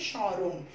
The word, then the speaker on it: স্মরণ: তাহলে এখন দেখো মফলা কি হয়ে গেল, মফলা হয়ে গেল প্রথমে মফলা থাকাতে আমরা মটা উচ্চারণ করছি না, সংযুক্ত বর্ণটিকে আনুনাসিক করে উচ্চারণ করছি স্মরণ, যে স্মরণ।